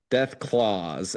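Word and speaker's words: Deathclaws: Death claws.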